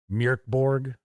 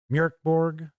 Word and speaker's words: Mörk Borg: I try to pronounce it the correct way. It's supposed to be like something like Mörk Borg, Mörk Borg.